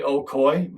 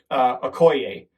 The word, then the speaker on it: Okoye: I want to say Okoye, but it's not Okoye. It's Okoye.